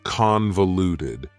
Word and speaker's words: convoluted: The final adjective that I have for you is convoluted. Convoluted also has 4 syllables, and the stress is on the first syllable, convoluted. That second syllable again has that schwa sound, that reduced vowel sound.